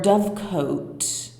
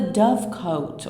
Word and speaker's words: dovecote: It looks like it's I don't have a definitive answer if it's dovecote or dovecot, but we're gonna say dovecot because that's how it's spelled most of the time.